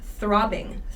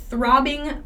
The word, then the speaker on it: throbbing: this one throbbing pain this one is hard to pronounce so there's that th at the beginning an unvoiced th throbbing throbbing pain so this the